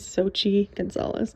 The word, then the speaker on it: Xochitl Gonzalez: Olga, This Dreaming by Xochitl Gonzalez. As I'm editing this video and have headphones on and can actually hear my own voice, I think I'm pronouncing her name wrong. Her name is Xochitl Gonzalez.